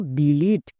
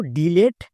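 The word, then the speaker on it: delete: sound ই ইউজ করবো যেমন দেখো ডিলিট এই ওয়ার্ডটিকে অনেকেই ভুলভাল উচ্চারণ করছো কেউ কেউ উচ্চারণ করছো ডিলিট আবার ডিলিট তাহলে কোনটা সঠিক চলো আমরা চেক করে নিই এখানে দেখো ই ভাওয়েল আছে তাহলে ই এর জন্য ভি তারপরে এল কনসোন এর জন্য সি এবং আবার ই ভাওয়েল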